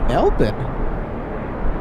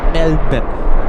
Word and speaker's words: Melbourne: Melbourne.